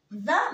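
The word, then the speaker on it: vingt et un: ف فانت ف فانت فانيا ما بنطق الت ولكن بعديه لتر ببدا انطقها اقول فانيا يعني 21 بعد كده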